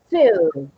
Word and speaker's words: fill: But what happens if you change it for the short one? Feel, okay? feel, And if you pronounce it with the other one, what are you saying? feel, Fill. Fill. Fill the tank.